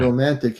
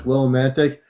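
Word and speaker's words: Willimantic: Just so you can relay the right name, it's not Romantic Connecticut. Uh, it's Willomantic. But it is funny you said Romantic. His his place is called Willantic for my space family. It's not called Romantic.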